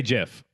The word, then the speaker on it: GIF: response about you but I say jiff because it's good it's right yeah what I say